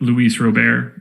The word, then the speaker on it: Luis Robert: a prospect do you mean like saying it luis robert yeah directly yeah the correct way to say